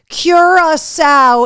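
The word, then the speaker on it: Curaçao: um nice reach there Curacao is how you pronounce it okay I always wondered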